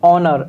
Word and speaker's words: honour: Next word is ऑनर, HONOUR, ऑनर। इसमें H silent होगा, okay. तो इसको हम हॉनर नहीं पढ़ेंगे, क्या पढ़ेंगे, ऑनर पढ़ेंगे।